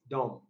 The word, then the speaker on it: dumb: confused by silent letters dumb the letter b silent okay so the underlined